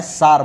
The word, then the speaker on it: tsar: तो ये जो सार बॉम्ब है, इसको सार लिखा जाता है, पर हम इसको प्रोनाउंसिएशन सार बॉम्ब करते हैं।